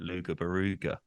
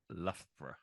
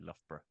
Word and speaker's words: Loughborough: Loughborough bro I here it's three syllables but I would probably say two I'd probably say Loughborough Loughborough Loughborough yeah okay yeah I wouldn't know to do like I guess the GH like laugh is a f for the GH but uh yeah I wouldn't instantly think to do a f sound on that love bro okay and